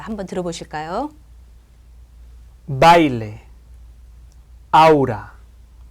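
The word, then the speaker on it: baile: 자, 강음 강이 올 때는 어디에 강세를 주나요? 당연히 강모음에 강세를 주고 있겠죠. 그런데 양모음과 양모음이 올 때는 뒤에 오는 모음에 강세를 주고 있습니다. 자, 한번 들어 보실까요? 바일레 아우라 다.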